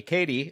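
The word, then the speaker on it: Cady: that uh Janice hands caddy uh caddy Katie a beautiful I keep I will probably keep making this mistake cuz phonetically it written caddy but okay you did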